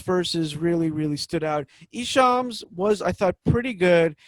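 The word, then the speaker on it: Esham: capital e and eshem who i can never pronounce his name correctly yeah i think that's it and they all take it's ishaam it's isha he was kind of the founder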